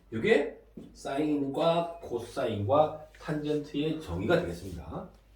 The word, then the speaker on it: sin: 읽을 때는 뭐라고 읽을까요? 사인. C는 죄가 아닙니다. 사인입니다.